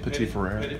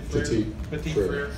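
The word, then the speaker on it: Petit-Frère: Petit Frere. Petit Frere.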